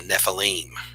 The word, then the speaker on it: Nephilim: about a group called the Nephilim or the Nephilim as to use the Hebrew proper pronunciation we're going to tackle